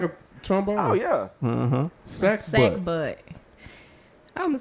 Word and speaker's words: sackbut: Sack butt.